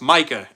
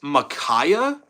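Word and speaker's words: Mykah: I always get my name pronounced as, so my name is Micah. For anyone that doesn't know, it's Micah, M-Y-K-A-H. Somehow teachers and subs will always pronounce it as Micaiah. I truly have no clue where they're getting a whole extra, what would that be? A whole extra syllable from?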